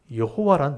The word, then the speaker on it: 여호와: 그래서 이제 자음에다가 아도나이 모음을 붙이니까 여호와라는 발음이 나온 거예요. 그래서 여호와라고 우리가 이름 불렀지만 실제 학자들이 연구해 봤을 때 이 하나님의 이름은 야훼다. 그래서 야훼란 말도 들어보셨죠? 그래서 이제 이게 정확한 발음일 거다 하고 이제 주장을 하는데 둘 다 쓰이는 거예요. 그래서 어떤 뭐 이렇게 교회 가면 하나님을 이 여호와란 말을 야훼라 읽기도 하고 또 이게 통상적으로 그냥 여호와라 읽기도 하는 거예요.